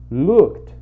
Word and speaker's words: looked: E aqui no texto a gente tem o verbo looked, que é olhou. Beleza? Então tem esse sonzinho de KT, looked.